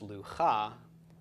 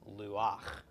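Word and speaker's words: לוח: this case this is not pronounced Liu ha but instead Luwak okay Luwak just so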